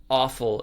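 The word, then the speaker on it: offal: that again is that it's spelled o f f a l yeah yeah awful it's like entrails or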